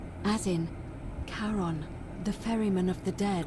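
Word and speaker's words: Charon: with a coin it's just as only your pronunciation is a little off the name you heard wasn't Karen it was c h a r o n as in Kon the Fairman of the dead I'm dead Kon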